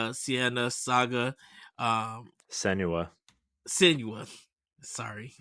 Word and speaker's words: Senua: Even Hellblade 2, Sienna Saga, Senua. Senua. Sorry, Senua.